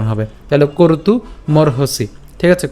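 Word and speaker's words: কর্তুমর্হসি: উচ্চারণ করব অর্থাৎ সরি ক এর পরে মানে করতু উচ্চারণ হবে এবং একই রকমভাবে এখানেও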